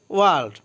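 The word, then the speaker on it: world: ওয়ার্ল্ড অর্থ বিশ্ব বা পৃথিবী, এখানে আর এর উচ্চারণ হবে না, ওয়ার্ল্ড না হয়ে ওয়ার্ল্ড হবে, অর্থ বিশ্ব।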